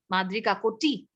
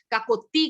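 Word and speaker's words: Madri Kakoti: तो that's the exact pronunciation of my name माद्री काकोटी। लेकिन यहाँ लोग बोल नहीं पाते हैं, काकोती कर देते हैं या काकोटी कर देते हैं, ठीक है।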